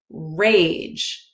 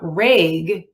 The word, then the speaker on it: rage: one is tricky because if I add an e to the end I get rage right so this e does two things it changes the short a app to a long a a right but it also changes it doesn't become reg it becomes rage so not only does it a sound change but the G sounds also right it also changes it